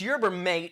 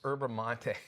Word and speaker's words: yerba mate: This company sent me cases and cases, and I was like, oh my gosh, this yerba mate is so great. And they finally ran there and go, it's pronounced yerba mate.